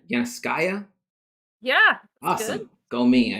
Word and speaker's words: Yanovskaya: is i always butcher your last name yana skya yeah awesome go me i remember i'll say